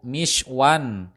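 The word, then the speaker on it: مِشْوًى: Pembentukannya sama dengan sigot isim zaman wa makan, hanya saja pada huruf mim di awal lafaz harokatnya bukanlah fathah, melainkan harokat kasroh. Sehingga jika kita membacanya yaitu mishwan, yang artinya alat untuk memanggang.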